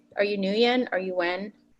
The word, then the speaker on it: Nguyen: it right are you new yen are you when so I go by if you're Vietnamese and call me slightly harder so the pieces that